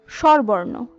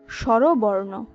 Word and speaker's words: স্বরবর্ণ: পরবর্তী শব্দ স্বরবর্ণ, আমরা বেশিরভাগ সময় বলে থাকি স্বরবর্ণ, কিন্তু স্বরবর্ণ হবে না, উচ্চারণ হবে স্বরবর্ণ।